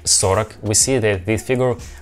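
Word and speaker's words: сорок: letter or or but we pronounce this sound like ah do you hear like i pronounced not so rock i pronounced sorak so rak therefore we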